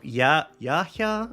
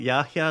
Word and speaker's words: Yahya: They're so Yahya, I think that's how you say it, Yahya Sinwar.